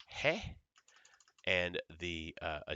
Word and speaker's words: ge: moments ago right so the G is pronounced hey and the uh a